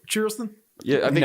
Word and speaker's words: Charleston: to uh bike week it's pronounced Charleston Charlston yeah I think it's